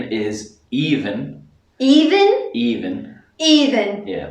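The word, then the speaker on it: Aoibhinn: Even? Even. Even. Yeah, like Even Steven. Ah. Even, but yeah, a lot of people in Ireland pronounce it Aveen, but the actual pronunciation in Irish is Even.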